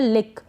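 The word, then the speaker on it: lick: क्लिक का मतलब दबाना और ये है लिक इसको लाइक ना पढ़े लिक का मतलब होता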